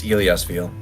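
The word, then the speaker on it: Illyasviel: How do you pronounce that? It is Iliasville.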